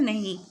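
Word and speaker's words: नः: इसका मतलब होता है नहीं। अब विसर्ग के साथ जो नह लिखा जाता है, ना जो विसर्ग के साथ लिखा जाता है उसका उच्चारण होगा नह। नह माने हमारी।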